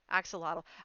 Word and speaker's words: axolotl: composter acts so model axolotl Oh got it axolotl I've never heard it pronounced so I just kind of took a